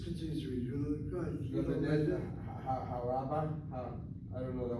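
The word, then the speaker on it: לומדת: You're hitting that last syllable. Just say Lomedet. Lo medet. All right, you gotta work on that one. So the syllables on the mem? Yes, Okay. just to go underneath the mem is a short vowel, has to be accented.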